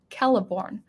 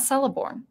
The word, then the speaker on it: Celeborn: believe galadriel's husband is caliborn ke caliborn with the hard sea it's not celeborn with the soft sea and it's it's i